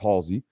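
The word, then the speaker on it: Halzle: in Joey Halsey it's spelled funny but it's pronounced Halsey uh a guy in Joey Halsey who's been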